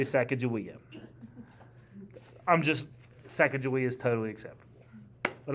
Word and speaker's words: Sacagawea: by a Shoshone woman, S-H-O-S-H-O-N-I, Shoshone woman, named Sacagawea. Pretty sure I did a project on that. I'm sure you did. I've also heard her name pronounced Sacagawea. That's a second. Most Americans say Sacagawea.